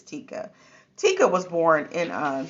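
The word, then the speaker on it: Tyka: uh I think it's I can't ever remember if it's pronoun pronounced Tika or taica I think it's Tikka Tikka was born in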